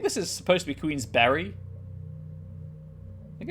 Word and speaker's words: Queensberry: do this uh yes it is supposed to be queen's berry b-e-r-y as in you know the food uh i would suspect that